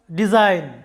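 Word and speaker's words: design: Alright, যখন কোনো সিলেবলে Z এর পরে N থাকে, অর্থাৎ N এর আগে যখন G থাকে তখন G এর কোনো উচ্চারণ হয় না, G সাইলেন্ট থাকে।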